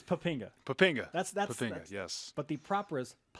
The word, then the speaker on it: Poppinga: Kelly Poppinga. You just told us that's the correct, the proper pronunciation.